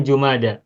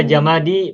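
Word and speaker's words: جمادى: baca bed ya tapi Setahu saya bacanya jumada tapi kalaupun ada yang baca jamadi bolehlah ada umum juga di sini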